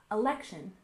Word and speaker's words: election: and next we have election we stress the second syllable election election for example the election